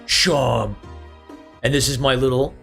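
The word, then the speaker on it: Seam: Name's Sheen. It's pronounced Sham.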